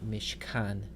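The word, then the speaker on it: מִשְׁכָּן: So we would prefer for this word to be mishkan.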